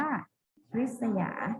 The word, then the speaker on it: ริษยา: ความ เจริญ นะ คะ ริษยา อ่าน ว่า ริษยา หมาย ถึง ริษยา นะ